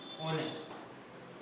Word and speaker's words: honest: For example के लिए HONEST, ऑनेस्ट, ऑनेस्ट means क्या होता है, ईमानदार। अब इसका उच्चारण जब करते हैं तो हम बोलते हैं क्या है, ऑनेस्ट।